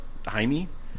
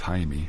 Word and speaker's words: Jaime: What's that about Jaime? That's the Spanish pronunciation. Jaime of is a- Jamie. Jaime. Yes. Yeah, it's the Spanish Jamie.